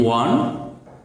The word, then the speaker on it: one: word that is if we get a word one o n e one the pronunciation is one only onward and it